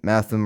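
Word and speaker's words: Mathom: For example, Bulgur has G as in bulge, so it would actually be bulgur, and Matham rhymes with fathom.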